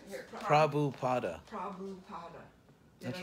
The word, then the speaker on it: Prabhupada: Could you pronounce his name? Oh, Prabhupada, my teacher. Yeah, right. Here, Prabhupada.